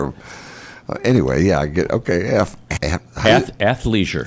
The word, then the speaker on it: athleisure: Athleisure. How do you spell it again? ATHLEISURE. That's hard for me to get out of my F. Athleisure. Athleisure. Like athlete. Leisure. Athleisure. There you go.